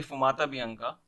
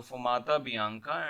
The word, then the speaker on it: fumata bianca: Fumta bianca, the pronunciation could be Fumata bianca, signals that the College of Cardinals has reached 2/3 majority, the vote that is required for the selection.